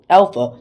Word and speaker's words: alpha: also just to note when you pronounce a word for example today I learned this letter Alpha don't call it a called it Alpha because it's not called a although it looks like